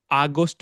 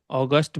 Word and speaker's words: August: ওকে, অ্যান্ড আরো কিছু জায়গাতে আমরা ভুল করছি, যেমন আগস্ট বলি অনেকে, অগাস্ট বলছি।